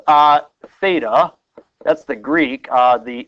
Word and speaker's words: theta: it's like an egg with a crack okay it's spelled uh Theta that's the Greek uh the English is let's